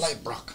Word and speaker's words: Leibrock: It's German, so yeah. However Germans pronounce things. Leibrock.